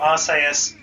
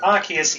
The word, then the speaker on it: Arceus: games also worth noting pronunciation of Arceus does vary between regions it's more assayer's in Japanese and Arceus in the English versions and of course as